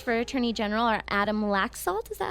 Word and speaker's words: Laxalt: general the candidates for attorney general are Adam laxalt is that how you pronounce it that's right and Ross Miller the